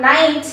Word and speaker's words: knight: uh i am okay like you have knight k ni g ht here you don't uh pronounce k over here you forget k over there and you just pronounce the rest part of the word n i g ht okay that's the same